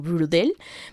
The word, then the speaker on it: Braudel: del francés este bueno es que no se pronuncia en francés pero creo que algo así como brutal pero se escribe braudel en bueno así se